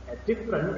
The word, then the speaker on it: different: Different is a word that consists of 2 syllables, not 3, not different, but different. And the stress word, or I'm sorry, the stress syllable is the first syllable.